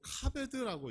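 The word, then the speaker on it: כבד: 공경이 아닙니다 경이라는 것 히브리 원어로 카드라고 읽어요 근데이 카드라고 하는이 단어에는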